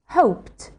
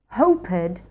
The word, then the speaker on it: hoped: wanted, needed, started, ended -- With verbs that end in an unvoiced consonant sound, it is not a separate syllable and is pronounced /t/. Examples are: hoped, panicked, coughed, missed, wished,